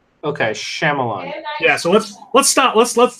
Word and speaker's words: Shyamalan: Night Shyamalan Ding Dong movie again?